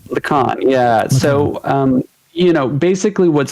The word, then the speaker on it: Lacan: Lacan.